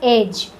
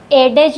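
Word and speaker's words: edge: डी का उच्चारण नहीं करेंगे हम लोग। For example एज। यहां जी से पहले डी आया है तो हम लोग इस डी का उच्चारण नहीं करेंगे। सिंपली बोलेंगे एज। एडेडज नहीं बोलते हैं इसको।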